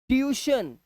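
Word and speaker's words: tuition: यहाँ देखो क्रूज, इसे पढ़ रहे हैं क्रूज, और इसे क्या पढ़ रहे हैं, ट्यूशन, ट्यूशन, हमारा यू आई देखो, ट्यूशन, यू की आवाज आ रही है, ट्यूशन।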